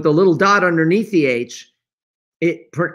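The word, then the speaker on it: חי: h and with the little dot underneath the h it pr it's pronounced hi and it means life some people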